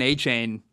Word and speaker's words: Achane: And rookie running back Devin Achane, or Achan, his name pronunciation has changed.